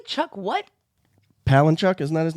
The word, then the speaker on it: Palahniuk: Palahniuk, isn't that his name?